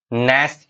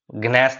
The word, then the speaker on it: gnash: ठीक है, उसी को बोलते हैं नैश योर टीथ। ग्नैश नहीं बोलते हैं, जी यहाँ पे साइलेंट है, जी को पढ़ना ही नहीं।